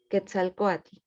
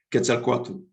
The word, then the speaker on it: Quetzalcóatl: Quetzalcóatl. Quetzalcóatl, El segundo, Huitzilopochtli. Huitzilopochtli. Perfecto, lo pronunciaste mejor que yo.